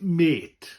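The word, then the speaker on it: mêt: And it's pronounced the same as the English word mate. It says Welsh for mate, meaning friend. So basically it's mate.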